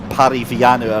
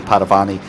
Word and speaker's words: Paravani: amazing amazing photographer gary paravani uh and not gary parry pariviano i think or however i butchered it earlier on it is actually gary paravani uh real life motorsport